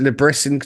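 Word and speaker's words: Le Bris: I mean um it's is it Liber you've got in charge? Is it is that how you say it? Labris. Labris Labris apparently.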